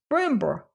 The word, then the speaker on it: Brindlebury: Pronounced Brimber, the old Sussex name with which, ma'am, I have no doubt you, as a student of history."